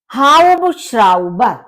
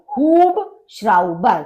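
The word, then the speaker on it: Hubschrauber: हाउबश्राउबर, हुब sorry हुब श्राउबर, क्योंकि यू का ऊ होता है, तो हुब श्राउबर यानी हेलीकॉप्टर।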